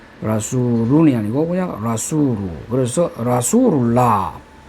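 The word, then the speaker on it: رسول الله: 뒤에 어떤 말이 오면은 라수루이 아니고 그냥 라수루 그래서 라수룰라 또 하나 예를 들면은 바이라면 집입니다.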